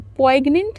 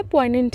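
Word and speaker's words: poignant: है पॉइंट पॉइंट पॉइंट पी ओ आई जी एन ए एन टी पोइग्नेंट नहीं इसको pronounce करना है पॉइंट है ये ये एडजेक्टिव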